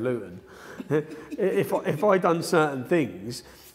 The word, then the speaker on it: Luton: a different accent and I pronounced more T's instead of saying Luton if I done certain